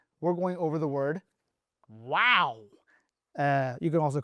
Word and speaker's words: و: This is right here is wow.